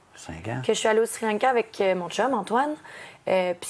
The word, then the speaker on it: Sri Lanka: être la prochaine tendance, le Sri Lanka, qu'on doit prononcer Sri Lanka si on le prononce dans la langue tamoul.